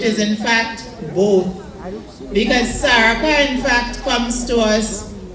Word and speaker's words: Salaka: and places like that, it became SALAKA because they pronounce an R very often as L.